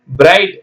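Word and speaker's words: bright: பாட் பி ஓ யூ ஜி ஹெச் டி பாட் பிரைட் பி ஆர் ஐ ஜி ஹெச் டி பிரைட் பிரகாசமான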